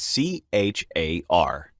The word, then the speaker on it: char: is the character type the keyword you must use is c-h-a-r pronounced char it is a string